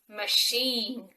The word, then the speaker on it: machine: it comes from french so many words that come from french take an element of the french pronunciation and they would pronounce